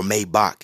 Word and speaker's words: Maybach: and you're freaking uh rolls-royce or maybach or maybach excuse me as it's pronounced you know don't be yeah man don't